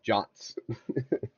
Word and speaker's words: JWT: So, uh, JSON web tokens, JWTs, pronounced jotss.